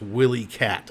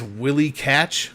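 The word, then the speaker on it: Willycat: So, but apparently, it's Catch and not Cat at the end.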